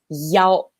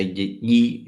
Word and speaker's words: 一: And don't forget the unique use of number 一, which is pronounced 幺. Very good. Don't say yi.